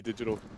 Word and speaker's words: DGTL: Love you, Digital. Or DGTL, sorry, as your correct pronunciation is.